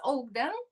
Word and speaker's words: Ogden: Am I pronouncing right? It's Ogden.